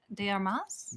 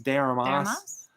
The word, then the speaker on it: de Armas: Is that how you pronounce the name? De Armas? De Armas.